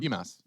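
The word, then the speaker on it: Bymas: BMAS. I'm pretty sure it's BMAS, yeah. Like, okay, it's like Christmas, but instead of Chris, it's just B.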